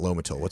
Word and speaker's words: Lomotil: And we were calling it Lomotil. How do you pronounce it? Lamotil.